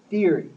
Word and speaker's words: theory: Theory, theory. So a lot of people have difficulty with that because it has these two letters, th, and it's oftentimes difficult for non-English speakers to pronounce that.